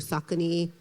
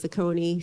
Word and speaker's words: Saucony: I'm the global CMO of Saucony. Some of you may pronounce it Saucony, same company, same shoe.